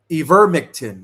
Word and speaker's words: ivermectin: Ivermectin, that's how you say it.